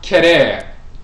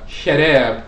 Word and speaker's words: Kherer: So Kherer or Kherer, when you look at the KH, the medut for the KH, it can be pronounced K with the K sound, it can be pronounced with the Ch sound, it can be pronounced with the Sh sound. It's very similar to the CH letter combination in English because that's where it comes from.